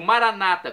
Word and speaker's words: Maranata: Jesus eu clamo maranat como dizemos nós católicos com a tônica na última sílaba ou Maranata com a tônica na penúltima sílaba como dizem nossos irmãos separados os evangélicos ou protestantes não importa a pronúncia o significado é o mesmo vinde Senhor Jesus vem